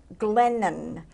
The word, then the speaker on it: Glennon: Diego is here with her people person, his people person, Glennon. Did I pronounce correct?